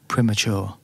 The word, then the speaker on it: premature: แ ต่ UK อ อ ก ว่ า premature.